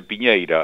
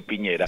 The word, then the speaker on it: Piñera: es asturiano el apellido Piñera. Sí. Pero todo se equivoca. Piñeira, ¿cómo es la pronunciación adecuada? A ver, Piñera. Piñera.